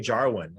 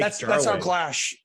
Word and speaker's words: Jarwin: Look, let's not forget about Blake Jarwin. I believe that's how you pronounce his first name. Better known as Blake Jarwin. That's how Clash pronounces it. Yeah, Blake Jarwin. I think it's European, soft J.